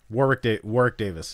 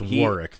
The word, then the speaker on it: Warwick: His name is Warwick Davis. Warwick Davis. Yes, It's he's just in pronounced Warwick though. Not Warwick. No. No. You don't pronounce the second W like a W.